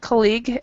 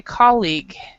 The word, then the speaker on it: colleague: That's actually a British English pronunciation, very good pronunciation. But for just an FYI, in American English, we actually stress the first part. We say colleague. Colleague. Yeah, in American English. But the way you said it, I believe you used a British pronunciation.